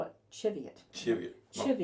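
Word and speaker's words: Cheviot: chivot in North Canterbury so y most people pronounce it wrong are the old school people in chivet call it chivet chivet chiv not chiv not chevet not chevet but chivet anyway we'll get that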